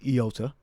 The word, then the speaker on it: iota: But it may have been actually pronounced with a yota. All right, or a yod. All right, but in the Greek, as we have here, it's pronounced iota.